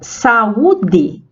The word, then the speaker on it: saúde: Mas na palavra saúde, o A e o U formam sílabas diferentes, que é o que nós chamamos de hiato. Saúde. Até na própria pronúncia a gente realiza essa separação silábica, né?